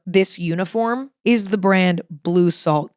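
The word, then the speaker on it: Bleu Salt: I will say my favorite brand for this uniform is the brand Blue Salt. It's spelled B L E U S A L T.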